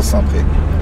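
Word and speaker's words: Saint-Prex: Tu vois, on va à Saint-Pré. D'accord. Ah oui, tu prononces pas le X.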